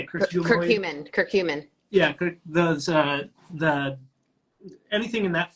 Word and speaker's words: curcumin: Curcumin.